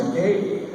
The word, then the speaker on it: Takei: My last name is pronounced Takei, which rhymes with gay.